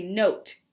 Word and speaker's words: note: So this word, n-o-t, it would say note because the E made the O say its name.